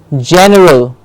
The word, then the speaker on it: general: E are Al general general generally okay we have general gen gets the clear stress general general excellent you